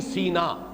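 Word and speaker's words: سیناء: کہا گیا ہے۔ سینین سینا، قرآن مجید میں سورہ مومنون میں یہ لفظ آیا ہے طور سینا، سینا اور سینا دونوں اس کے تلفظ ہیں۔ سینائی پیننسولا، آج کل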